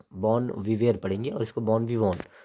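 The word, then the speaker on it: bon vivant: बॉन विवॉन, VANT, इसको बॉन विवॉन पढ़ेंगे। भले टी है तो आप टी देख करके विवॉन, विवॉन्ट मत पढ़ना, इसको बॉन विवॉन पढ़ेंगे।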